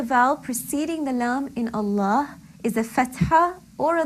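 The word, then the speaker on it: الله: Allah, the lam in Allah can be pronounced either heavily or lightly.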